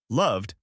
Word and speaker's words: loved: Cooked with a t sound at the end, loved with a d sound at the end, wanted with a ed sound at the end.